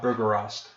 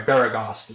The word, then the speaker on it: Baragost: Till just about the city of Bergerost. I'm sorry, Baragost. It's pronounced Baragost.